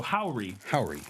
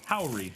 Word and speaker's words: Howry: package here from EP Howry. There's a pronunciation guide on the box. Oh no. Emphasized syllable, pronounced like how, and then the second syllable is pronounced like re. So Howry. Howry, not Hari.